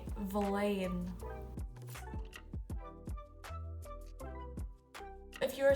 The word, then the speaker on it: bhliain: So if you are from 1 to 2 years old or your age ends in 1 or two, you say valain.